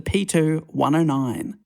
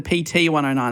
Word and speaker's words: PT109: patrol torpedo boat the p2109 uh a good boat well he uh i actually mispronounced it there it's actually the pt109 is that still good no